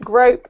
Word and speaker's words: grope: anyone know what to it rhymes with rope right grope rope so just no okay